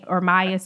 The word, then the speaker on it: Ermias: Like he has said, I don't know how to pronounce his first name. Yeah, meaning Ermias. Ermias.